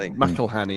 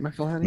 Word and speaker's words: McElhenney: Well, he owns it with Rob McElhenney, isn't it? Is it McElhenney? Yeah, McElhenney.